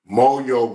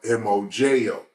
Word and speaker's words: mojo: I've never seen it written out, but in the pronunciation of being Hispanic, in the pronunciation, Moyo would be spelled M-O-J-O, like Mojo, but it's Moyo.